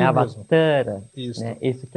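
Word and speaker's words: अवतार: Avatara é um termo sânscrito, e a pronúncia correta é Avatara, com o A do Tar, com um tio.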